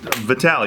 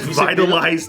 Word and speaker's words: Vitaly: Vitaly. Everyone knows how to say it. How did you say it when it pissed him off? Vitaly? I said Vitalize TV because I thought that's what it was.